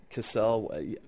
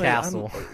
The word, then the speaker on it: Cassel: Cassel, because he's French. It yeah, wouldn't no, be Castle.